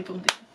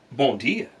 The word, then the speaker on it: bom dia: Look, I know the M is nasal, all right?